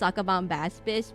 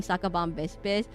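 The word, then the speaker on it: Sacabambaspis: I know it's pronounced Sakabomb Baspis, but I always default to saying Sakabomb Bispis.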